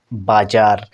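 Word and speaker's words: bazaar: এখানে এই আরটাকে বাদ দিতে হলো, কারণ ভাওয়ালের পরে আর। আর এখানে আমেরিকান স্টাইলে তবুও কিন্তু উচ্চারিত হবে বাজার। তাহলে এত তর্ক বিতর্ক কেন ভাই?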